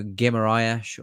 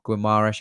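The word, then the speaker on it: Guimarães: Then we got Bruno Guimaraes, or Guimaraes, however you want to pronounce it. I think it is Guimaraes.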